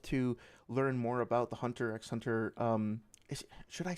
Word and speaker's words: Hunter x Hunter: It's just Hunter x Hunter, the X is silent.